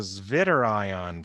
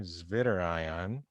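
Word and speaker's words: Zwitterion: really looks like and it's called the zit iion form I said with a German pronunciation there ziter iion derived from the German words zvi and ions I like the German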